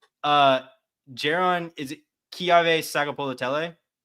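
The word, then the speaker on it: Keawe: Jaron, is it Kiave Sagapolutele? It's like Kive. It's like the W is like a V sound.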